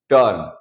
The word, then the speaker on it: turn: दोस्तों seventh rule ये कहता है, जब किसी वर्ड में यू के बाद आर आए तो यू को अ पढ़ेंगे, ओके। कैसे, जैसे कि यू के बाद आर आए मतलब कि TURN, टर्न।